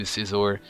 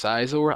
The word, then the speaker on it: Scizor: It's not pronounced Scizor. I've been pronouncing it Scizor as a child, but now it's pronounced Scizor.